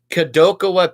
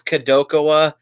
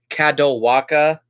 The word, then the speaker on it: Kadokawa: franchise and by the way anybody who calls Kadokawa kadal waka you're idiot that's not how you pronounce it it's spelled ka do ka waa Kadokawa not caddel waka that's just something I want to say so